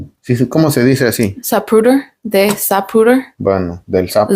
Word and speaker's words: Zapruder: Zapruder, de Zapruder.